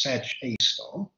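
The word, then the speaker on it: Sagittarius A*: a abbreviated or a and usually pronounced search a star laying at the exact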